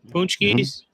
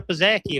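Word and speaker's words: pączki: First time I met him, he's like, I want a Pizzacchi. I'm like, a Pizzacchi? Don't even. I'm half Polish. I've never fucking said that word in my life. It's a fucking punchki.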